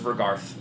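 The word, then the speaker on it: Vr'garth: Well, it it has a th at the end of it, so it's vergarth.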